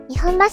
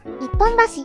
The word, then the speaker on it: 日本橋: ですが現在いる東京の方は日本橋大阪は日本橋と読み方が異なりに区別されています元は江戸時代